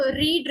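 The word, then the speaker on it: read: अब जैसे अगर हम रीड रेड रेड बोलते हैं, स्पेलिंग सेम रहती है लेकिन प्रोनाउंसिएशन डिफरेंस होता है.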